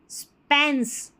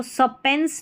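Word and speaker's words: span: Attention स्पेंस इसको सपेंस नहीं पढ़ना है।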